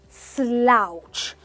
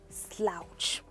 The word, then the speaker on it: slouch: Now please understand, the pronunciation is slouch. You want to open your mouth really wide and go slouch.